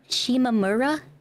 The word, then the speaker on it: Shimamura: pretty good but there's one character's name was Shimamura and instead of just saying that which I feel like is pretty easy to say pretty straightforward Shimamura is how they would say her name like I hate